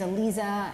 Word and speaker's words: Aliza: And I invite us to find another game that we can play so that you can know my name is Aliza. I used to say it rhymes with pizza, right?